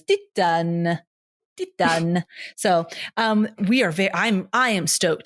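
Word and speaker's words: Titane: How they say it in the little pronunciation thing is Titan.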